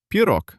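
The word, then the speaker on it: пирог: And at the very end stands the voiced letter G. But we remember the law of solitude. At the end of a word, a voed letter gets scared and turns into its voiceless twin. The letter C. It turns out pio, you're my best student, Maxim.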